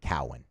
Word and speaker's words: Cowan: So the official pronunciation guide at LSU has it Cowan. Okay, good. Cowan. His coach at Wofford called him Cohen.